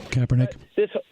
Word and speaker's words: Kaepernick: I never know how to pronounce that guy's name. Kaepernick.